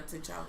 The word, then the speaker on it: T'Challa: Yeah, T'Challa.